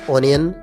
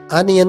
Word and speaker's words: onion: Note कर ले, इसे आप ऑनियन प्रोनाउंस नहीं करेंगे, बल्कि आप इसकी राइट प्रोनाउंसिएशन अनियन करेंगे।